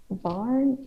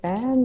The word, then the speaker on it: bairn: but instead of children, they say like barn, like ban or Oh, something. Bairn. Yeah. Yeah. It's And like they also, yeah. BAIRN, something like that.